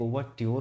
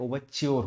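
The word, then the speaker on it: overture: इसके 2 actually pronunciation होते हैं, एक ओवरट्योर होता है, एक ओवरच्योर होता है। तो यूके का जो प्रोनाउंसिएशन होता है वो ट्योर होता है, जो यूएस का होता है वो च्योर होता है, लेकिन हम लोग ब्रिटिश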